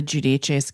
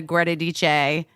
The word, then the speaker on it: Giudice: I mean, I'm thinking Teresa Giudice's kids are like the most memed, probably.